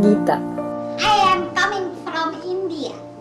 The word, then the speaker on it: Geeta: How would you pronounce Rams it? My name, Geeta.